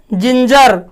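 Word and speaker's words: ginger: इसी प्रकार इन शब्द, कुछ और शब्द हैं जहां की जो बोला जाता है, जैसे है जिंजर, इसको हम लोग गिंगर नहीं बोलते हैं, लोग बोल देता है, लेकिन क्या बोलते हैं हम लोग, जिंजर।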